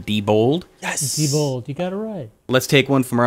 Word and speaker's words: Diebold: Matthew dat you for clearing it up it's pronounced Diebold let's take one from our old friends friend